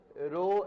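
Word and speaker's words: rho: और प्रोनाउंसिएशन में क्या बोलते हैं? रो। आर एच ओ, रो।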